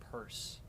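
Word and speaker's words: Peirce: Yeah, I think it's pronounced Purse.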